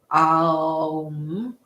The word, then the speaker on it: Om: using a chant of Om. If you'd like to chant, amazing. And if you would prefer not to, also amazing. You can use your breath and imagine that the 3 syllables of Om, Aum, are riding out on your breath.